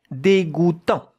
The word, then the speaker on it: dégoûtant: D with an accent, it's not de, it would be de without the accent. Dégoût, here we have the sound goût, J-O-U, goût, tant, T-A-N-T. But the T at the end, you don't hear it.